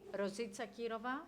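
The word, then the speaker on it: Rositsa Kirova: So on my right, I have, if I pronounce it correctly, Rosica Kirova. That's it. Right, perfect Bulgarian accent.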